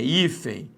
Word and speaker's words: hífen: A mesma coisa vai ser hífen ou hífen? É hífen. Nós temos aqui uma paroxítona.